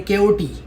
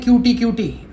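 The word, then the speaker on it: KOT: जैसे प्रोनाउंसिएशन जैसे हमारा सबसे इंपॉर्टेंट है के ओटी। तो बहुत सारे उसको क्या बोलते हैं? क्यूटी क्यूटी। कटी नहीं है के ओ टी है उसका उसका हर चीज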